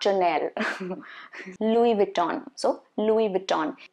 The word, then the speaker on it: Louis Vuitton: So Louis Vuitton.